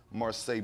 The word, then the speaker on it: Marseille: And Miss Marseille Martin, right? That's how you pronounce that. Marseille? Mm-hmm.